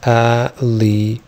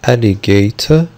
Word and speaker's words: alligator: واتفقنا لو أنا بنطق British alligator هنطق T، دي حاجة اسمها true T. true T دي T حقيقية واضحة جدا، T هتنطق ت ت ت، ودي موجودة في البريتش اكسنت. اما لو هنطق امريكان هقول alligator، فالتي هنا لو جت between two vowels هيبقى اسمها حاجة اسمها flap، تي هتنطق دي خفيفة.